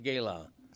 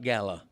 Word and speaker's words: gala: We've always pronounced it Gala, not Gala.